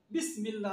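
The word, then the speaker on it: بسم الله: এখানে পড়ার সুবিধার্থে আল্লাহ তাআলা এখানে আলিফটাকে সাইলেন্ট হয়ে গেছে বিসমিল্লাহ, অর্থাৎ বিসমিল্লাহ সে আলিফ কিন্তু আর এখানে নাই।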